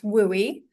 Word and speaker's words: WUI: The WUI, which we pronounce WOOI, uh is where homes and wildland areas meet.